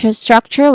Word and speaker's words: structure: So we start with a consonant cluster of this um individual sounds of s t and r and then we followed by awa sound and a letter k sound at the end. So struck again struck. And then chore the second syllable chore. It starts with a ch sound or ch sound.